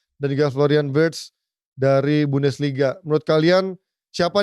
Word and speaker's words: Wirtz: 1, dan juga Florian Wirtz dari Bundesliga. Menurut kalian siapa nih pemain-pemain dari luar Premier League ini yang akan lebih excel? Apakah Gyökeres, Sesko, Gittens, Cherki, atau Fritz? Kalau gue namanya Wirtz, bukan Fritz.